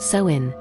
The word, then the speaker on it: Samhain: The origins of Halloween trace back over 2,000 years to the Celtic festival of Sin, pronounced soin.